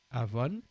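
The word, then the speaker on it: עוון: iniquité Avon hein voilà Avon on voit un Aï et c'est la lettre B hein H qui se prononce V et le N Avon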